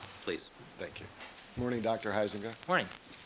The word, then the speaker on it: Huizenga: My name is Robert Heisinga. That's spelled Huizenga. May I proceed, Your Honor? Please. Thank you. Morning, Dr. Heisinga.